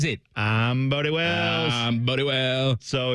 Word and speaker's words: Bodie Wells: I'm Bodie Wells.